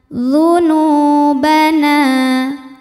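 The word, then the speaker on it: ذنوبنا: fagfirlana dunubana D ujung lidahnya sentuh sama ujung gigi seri atas Terus kita monyong karena harakatnya domah duu d bukan Zu tapi dzu dunu Monyong lagi karena harakatnya domommah dunu dan ayunkan karena ada wau matinya setelah damah dua harakat aja dunubana nanya juga Karena setelah fathahnya ada Alif kita dorong juga dua harakat dunubana dunubana waqina wa bibir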